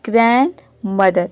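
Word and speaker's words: grandmother: next है देखिए ग्रैंडफादर इसको ग्रैंड मदर या फिर ग्रैंडफादर नहीं बोलते हैं इसको बोलते हैं ग्रैंड मदर यानी कि डी जो है वह साइलेंट है एनडी आ रहा है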